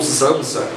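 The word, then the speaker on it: Samsa: Mas quando o Kafka está falando que o Sansa, ou Zamsa, na pronúncia alemã, o Zamsa, acordou transformado num inseto, não é isso que ele está querendo dizer, ele está querendo dizer outra coisa.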